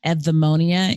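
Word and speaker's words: Eudaimonia: located in columbia maryland edmonia even though it sounds like eevee it's spelled eu and epnemonium means human flourishing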